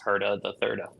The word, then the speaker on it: Herda the Thirda: Because I'm Albert William Herda the Third, so it's Herda the Thirda.